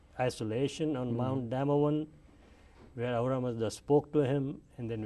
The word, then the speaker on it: Ahura Mazda: Ahura Mazda.